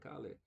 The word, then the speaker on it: kale: just say kale kale it's spelt like kale like the veg the vegetable kale but just say khaled khali and then when you're